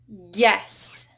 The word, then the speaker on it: guess: Guess. So guess has that U in there that is silent.